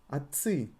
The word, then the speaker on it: отцы: Actually here it's written with T, but in pronunciation T is almost disappearing from the word. Отцы. Отец, отцы. Отец, отцы. It's absolutely fine if you pronounce it with T. Actually, it is much better.